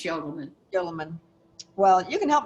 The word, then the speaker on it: Udelman: Yeah, it's not Udelman, it's Yodelman.